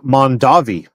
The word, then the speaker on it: Mondavi: It's pronounced Mondavi. Listen, I pronounce nothing correctly. Haven't you noticed? Brown chicken? Mondavi?